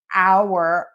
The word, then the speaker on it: our: Now, there is a variation in American English where our, O-U-R, is sometimes pronounced like R. If you were, I'm Catholic, and so at church, oftentimes when we're saying the Our Father, everyone says Our Father, Our Father.